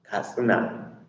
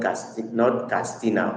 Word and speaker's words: Katsina: I'll pronounce it the way they pronounce it. Katsina, not Castina or Katsina.